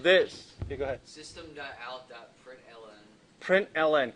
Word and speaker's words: println: Println. Can someone verbalize just this word in 1 or 2 syllables? Print line.